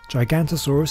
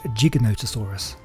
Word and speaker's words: Giganotosaurus: there are a few ways people have been pronouncing it gigantasaurus is one way this is real gigantosaurus is